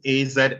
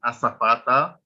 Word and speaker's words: azafata: AZAFATA is not azafata, it's asafata, right?